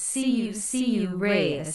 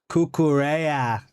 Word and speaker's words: Cucurella: You are saying his name wrong. It's C-U Reyes. Say it like that. Cucurella.